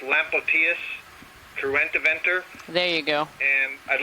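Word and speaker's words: Lampocteis cruentiventer: I was saying, I think that's pronounced Lampoictus cruentiventer.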